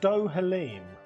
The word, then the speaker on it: Dohalim: It's pronounced Dohalim.